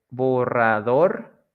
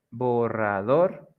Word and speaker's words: borrador: Agudas is when the last syllable is the stress syllable or la sílaba tónica, the last syllable. Like in the examples we have here, colibrí, the strong sound, it's at the end, brí, colibrí, jabón, jabón, borrador, borrador y café, café.